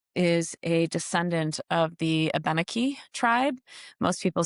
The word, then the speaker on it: Abenaki: I was very close to and she uh is a descendant of the Abenaki tribe. Most people say ab aanaki I think um but it's it's pronounced abenaki.